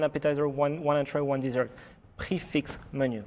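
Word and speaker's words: prix fixe: Is that prefix? How do you pronounce that? Come on. What should people say? Prefix. Prefix. Okay.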